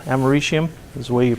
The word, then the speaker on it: americium: not used except for plutonium americium is used americanium right americium is the way you pronounce it anybody know what it's used for